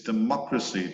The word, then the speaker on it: democracy: so you notice that the accent it moves it's democracy that dah dah dah dah dah dah dah democracy and democratic it moves one syllable to the right Democratic that the data